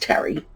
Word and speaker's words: Teri: And Teri Smith is T-E-R-I, by the way. So I'm assuming that is pronounced Terry.